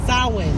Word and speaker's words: Samhain: It's called Samhain. That's how it's pronounced, I believe.